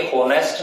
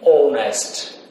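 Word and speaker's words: honest: For example, Ram is dash ऑनेस्ट person, Ram is dash ऑनेस्ट person, ये होनेस्ट नहीं होता, इसकी प्रोनाउंसिएशन क्या होती है, ऑनेस्ट, यानी एच साइलेंट होता है, तो यहां पे हम किस चीज का प्रयोग करेंगे, एन का।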